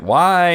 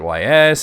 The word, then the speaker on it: Ys: Because like everybody else back, I was like, is it Y? Is it YS? Is it Yis? Like, how do you say it? And somebody told me it was Is.